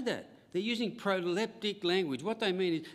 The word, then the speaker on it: proleptic: p t i c not prophetic proleptic not septic but proleptic that's my word for